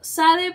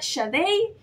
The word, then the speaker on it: Sade: thieves y aquí está Yo sé que yo le he dicho Sade pero tengo entendido que se pronuncia shade yo no sé yo